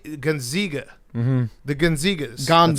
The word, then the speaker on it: Gonzaga: It's a long A. Zaga. Gonzaga.